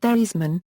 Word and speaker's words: Theismann: Theismann, whose last name was actually pronounced Theismann, recounted in 2007 that it was Notre Dame publicity man Roger Valdiserri who insisted that he changed the pronunciation of his name to rhyme with Heisman, but he finished second